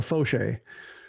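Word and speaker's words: Faucher: like a baseball reference, the first syllable is capitalized, so Fauché.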